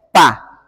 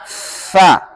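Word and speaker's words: ف: Berarti pengucapannya fa, ada hamasnya, fa, nggak boleh pa, harus fa.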